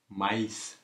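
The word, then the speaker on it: maïs: இப்படி விதைக்க நாங்கள் இதை மைஸ் என்று உச்சரிப்போம். அப்போ மா இ இஸ் என்று சொல்லி உச்சரிக்கிறோம் என்ன. அப்போ பார்த்தீங்களோ அப்போ இந்த ஈயை வந்து அழுத்தி உச்சரித்து அடுத்து வெறும் எழுத்தையும் நாங்கள் உச்சரிக்கிறோம். அப்போ மைஸ் என்று உச்சரிக்கிறோம். மைஸ் என்று சொன்னால் சோளம்.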